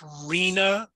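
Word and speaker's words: RHNA: wondered what it means it's pronounced rina even though there's no way that you would get that from there it's the regional housing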